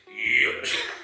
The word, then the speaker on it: Yoichi: You're not saying Yoichi, correct? It's actually Yoichi.